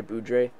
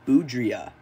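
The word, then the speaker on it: Boudrias: dealt them for Andre boudre hello everybody um after filming this video and I'm in the process of editing I realized I uh butchered this guy's name it's actually Andre boudria so sorry Andre uh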